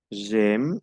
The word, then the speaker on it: j'aime: J'aime, la A con la I, no olviden que se pronuncia E.